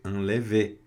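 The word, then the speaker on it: enlèvent: Anlev quer dizer aqui também não pronuncia o nt, então fica lev, tá?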